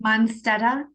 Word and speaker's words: Monsteta: Monsteta?